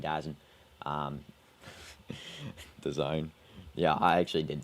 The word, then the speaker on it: DAZN: Yeah, I mean, I'm a bit too lazy to do the full pronunciation, DAZN.